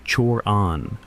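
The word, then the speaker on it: Cioran: His name was Emil Tioran, pronounced Chan, Romanian.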